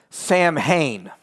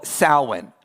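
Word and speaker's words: Samhain: No, because the the fundamentalist strikes back and says, "But have you ever heard of Sam Hayne?" No, that's not how you say it. This is called sin.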